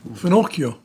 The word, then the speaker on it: finocchio: Finocchio. Finocio.